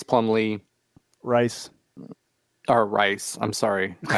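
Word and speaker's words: Rhys: right now it is it's spelled r h y s and it is pronounced rice correct so uh at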